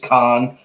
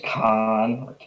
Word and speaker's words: Cannes: revealed at cannes con so i i've heard it pronounced many different ways and i'm pretty bad with english even though it's my you know native language um but i think it's con i think it's con all right so studio canal